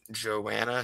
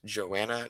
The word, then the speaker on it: Joanna: Joanna says, you said my name wrong. It's Joanna, not Joan.